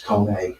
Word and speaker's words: Koenig: This is CONE. It's Koenig. That's how it's pronounced.